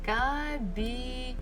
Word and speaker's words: кабинет: Okay, кабинет. Кабинет. So, in the office will be в кабинете. В кабинете. Кабинет. So still the stress falls on the last syllable. Нет. Кабинет. I actually don't really like cabinets because they are quite scary.